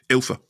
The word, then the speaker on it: Ylfa: Is it Ylfa? Yeah. Is that how you say it? Yeah, no, it's Ylfa? Ylfa.